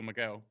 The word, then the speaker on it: Mighall: Well, it technically, I mean, it's an Irish name that would be pronounced Mar, but Phil, who I've known for over a decade, it's he would pronounce it Phil Miguel.